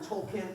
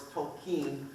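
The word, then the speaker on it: Tolkien: who tolken was and I called him tolken tolken tolken and then I met some people who know and they say no it's to Keen like a keen on to Keen having said that if you watch a documentary with people who know him they'll call him different things so you'll be very good company but I think it's supposed to be tol Keen I'll probably say tolken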